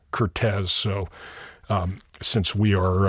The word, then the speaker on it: Curtiz: Uh but he he is the official biographer and he says it is correctly pronounced Cortez. So um since we are uh lawabiding podcasters, we we will pronounce it Cortez.